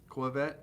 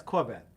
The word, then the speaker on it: Corvette: yeah oh yeah but you're not pronouncing it right Clos vette yeah it's Corvette oh well then I